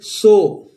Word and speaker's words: soar: ये SOAR लिखा हुआ है, इसको हम पढ़ेंगे सो। और SORE इसको भी हम पढ़ेंगे सो। शोर नहीं पढ़ते हैं इसको दोस्तों, और इसको भी सोरे नहीं पढ़ते हैं, आर साइलेंट होता है, हम पढ़ते हैं सो।